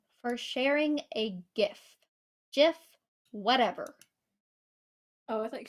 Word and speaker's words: GIF: for sharing a gift Jiff whatever Oh I thought you said gift with a yes it's spelled GIF so it's GIF In This Moment okay